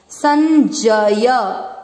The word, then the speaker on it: संजय: अक्षर पूरा होता है उसमें आपको अ का उच्चारण मिक्स करना होता है। संजय, संजय, उ मात्रा छोटी है लंबा नहीं खींचेंगे,